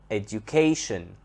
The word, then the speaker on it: education: first syllable educate educate if we change it into a noun education education where is the stress here on the second syllable now the word translate